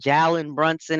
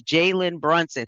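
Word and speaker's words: Jalen Brunson: his goddamn name saying Jallen Brunson and all this other It's Jaylen Brunson. Pretend you see a Y there.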